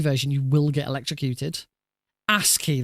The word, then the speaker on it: ASCII: ASCII, that's how it's pronounced.